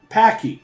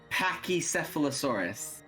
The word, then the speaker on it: Pachycephalosaurus: how to say it and so I said Packy and then her response was well that's the dumb way dumb down way to say it can we refer to Bob to actually how to say it Pachycephalosaurus so every round is broken down into five